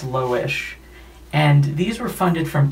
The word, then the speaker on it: Loish: books by loish l-o-i-s-h i really hope it's not pronounced leuch but i think it's low-ish and these were funded